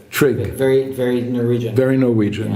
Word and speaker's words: Trygve: So how do you pronounce his first name? Trygve.